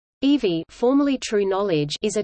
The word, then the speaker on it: Evi: In January 2012, True Knowledge launched a major new product, EV, pronounced EEV, an artificial intelligence program which can be communicated with using natural language via an app on iPhone and Android.